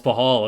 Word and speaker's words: Pachal: no it's closed uh the c is silent it's a weird name it's paul oh it's pahol okay i gotcha nice